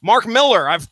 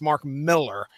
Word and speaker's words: Millar: fun a good discussion mark millar I've called him mark millar like 90% of my life from what I understand his name is his name is pronounced Mark Miller I call him Marky